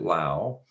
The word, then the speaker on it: Lau: Yes, I pronounce it Lau. When you're walking through a field and you see something out there with udders, you generally do not call them a cow, you call them a cow. But that is the way that I pronounce it.